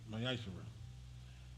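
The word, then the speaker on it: מעשר: Means tenth in the Hebrew, and it's pronounced Mayashara.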